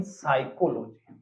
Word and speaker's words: psychology: तो इसको बोलते अपन साइकोलॉजी पहली बात पहली बात स शुरू होने वाले साइकोलॉजी की स्पेलिंग प से शुरू इसका मतलब टॉपिक तो